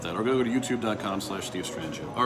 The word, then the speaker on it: Strangio: But if you want to find out more about me, my website, just, honestly, just search Steve Strangio. My last name is spelled S-T-R-A-N-G-I-O. S-T-R-A-N-G-I-O.